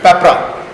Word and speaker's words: PPRA: This is PPRA बट for pronunciation comfort we read it एज पेपरा, public procurement rules of 2004।